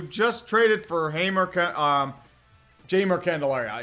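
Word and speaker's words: Jeimer: traded for Haymarket um jamer Candelaria it's jamer jamer jamer I always keep saying it's Hamer you know like the J is pronounced as an H as it usually is in Spanish I'm weird like that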